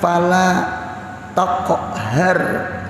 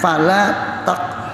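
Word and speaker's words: فلا تقهر: sama ada qiraat yang membaca bukan fala taqhar dibacanya qf itu kap kecil jadi bacaannya sama ini faammal yatima fala taqhar kada taqohar kap kecil bukan kap besar oh ada qiraatnya fala takhar Har.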